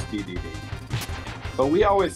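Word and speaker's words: Dedede: day D day I like I think they pronounce it DDD I think and brothers yeah in Smash Brothers It's DDD but we always said the day day yeah I picked it up from I think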